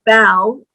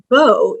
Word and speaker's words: bow: Bow or bow. If we say bow, that means to bend down in respect. But if we say bow, it could be the front of a ship or, you know, a decorative knot that we put in our hair or our tie. So same word, two pronunciations.